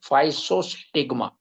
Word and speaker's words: Physostigma: उसका स्पेलिंग है PHYSOSTIGMA PHYSOSTIGMA। उच्चार उसका है फाइसोस्टिग्मा।